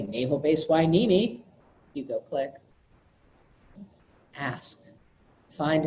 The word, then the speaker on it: Hueneme: is the naval base Hueneme not an enemy not who neem not house it it's